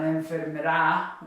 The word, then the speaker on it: enfermera: It's not enfermera or enfermera or enfermera, it's enfermera.